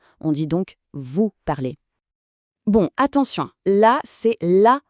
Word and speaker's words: parlez: Le moin e z se prononce comme un e fermé. Pensez au mot café. On dit donc vous parlez.